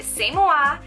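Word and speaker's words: C'est Moi: it's from the brand samoa um you look at it and it looks like siesta muy but it's the same wa and it means it's me in french it's so cute this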